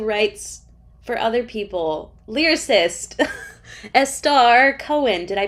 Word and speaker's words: Estar: the word also writes for other people lyricist estar cohen did i pronounce that correctly yes thank you yes my name's a star and i am a composer and a vocalist